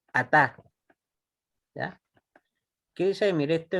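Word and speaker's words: אתה: Dos, dice, si una palabra aparece sin muná, ¿ya? Se puede asumir que se acentúa en la sílaba final. ¿Ya? Por ejemplo, veamos ejemplo. ¿Qué dice ahí? Ataj. Ataj. Tap. Atá. ¿Ya? Atá. Miren, no tiene muná, pero ¿cómo sabemos que se acentúa aquí en la última sílaba?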